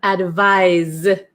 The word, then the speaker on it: advise: And then number eight, we have advis. Okay, so this is like more of a Z sound.